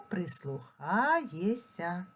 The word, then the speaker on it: прислухаєшся: милуєшся а вимовляємо милуєся пишемо прислухаєшся а вимовляємо прислухаєся пишемо здається а вимовляємо